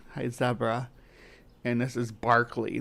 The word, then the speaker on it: Berkeley: And this is Berkeley. This place is Berkeley Square, not Berkeley.